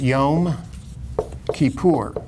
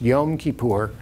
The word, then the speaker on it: Yom Kippur: And that also in Hebrew is Yom Kippur. I know people pronounce it in various sloppier ways than that, Yom Kippur and Yom Kippur, and, but it's Yom Kippur, and it's a day of atonement.